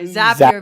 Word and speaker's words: Zapier: I'm sorry, Zapier makes it happier.